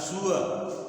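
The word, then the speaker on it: sure: जैसे होता है, इसका उच्चारण हम लोग श्योर बोलते हैं, ये भी गलत है, इसका उच्चारण होता है सुअर, सुअर, टूअर, सुअर।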